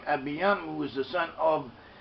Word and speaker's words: Abijam: We have the name Abiyam. Abiyam. Abijam is how it's spelt, but it's pronounced as Abiyam.